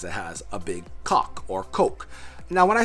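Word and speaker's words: kok: me we're super immature is spelled k-o-k or some people say coke and some people say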